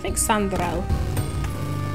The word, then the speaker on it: Chandrelle: All right, Chandrelle is the way it should be pronounced.